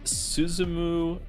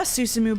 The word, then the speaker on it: Susumu: Its current leader is Suzumu Nishizawa. They really gave you a VN that was going to force you to learn Japanese pronunciation, didn't you? Didn't they? I'm sorry. Yep. I mean, yeah, Susumu, but the other men standing around looked distinctly